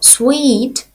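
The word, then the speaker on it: suite: Не плутайте, будь ласка, це слово із словом suit. Слово suit означає костюм і пишеться без буквочки і в кінці. Слово sweet означає величезний номер у готелі.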